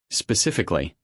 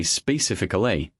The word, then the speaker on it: specifically: Specifically. Learners often say specifically, adding an extra syllable. The correct version is specifically.